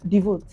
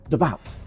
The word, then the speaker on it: devout: the hotel sorry conventry the correct pronunciation is devout devout are you a devout